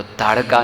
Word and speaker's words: ताड़का: और उस समय जब उस एरिया में पहुँचे तो ताड़का ने प्रवेश किया। ताड़का या ताटका, कैसे प्रोनाउंसिएशन है? ताड़का।